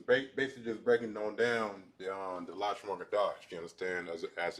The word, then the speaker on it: Lashawan Qadash: But before I dive into that, I'm about to go ahead and hit up the Lashawan Qadash chart right now, so that way we can all be able to understand exactly how to pronounce our own alphabetical letters.